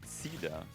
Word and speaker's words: Ziele: It's pronounced Ziele.